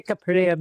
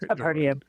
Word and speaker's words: Capernaum: the Sea of Galilee, Capernaum. I went to Capernium as they pronounce it, Capernium.